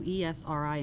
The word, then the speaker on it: Esri: various county agencies to ESRI Incorporated in the amount of $59,000. This purchase amount is within the approved budget, and no additional funds should be necessary. Okay, and we actually pronounce that Esri.